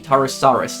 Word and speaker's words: Tarusaurus: Tarusaurus, that's how you pronounce it.